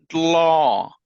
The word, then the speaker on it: dl: The DL, this is the Green Hmong dialect. So I have it in here, but we're not going to cover much into it. But the pronunciation is law. So you have a D and then the L, law.